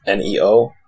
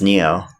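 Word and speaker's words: Nioh: when I say neo people are gonna think Ennio but it's an IO H it but it's pronounced neo yeah I know I said an IO so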